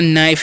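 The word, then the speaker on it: knife: इसे हम लोग पढ़ते नाइफ यहां पर जो है के साइलेंट होता है याद रखना ठीक है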